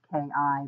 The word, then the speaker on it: Chi: Anyway, I'm also known as Kai, which is pronounced Ki, but I actually spell it Chi.